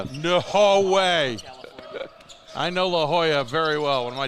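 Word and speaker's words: La Jolla: It's also La Hoya, not Legola, California. In case I've never said Lejola. I think you may have. No way. I know La Hoya very well.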